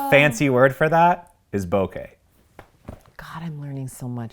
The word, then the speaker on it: bokeh: We're gonna say bokeh. Bokeh, like okay.